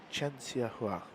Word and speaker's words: Chen Xia Hua: Chen Xia Hua. Yeah, that's how you pronounce the name. Chen Xia Hua.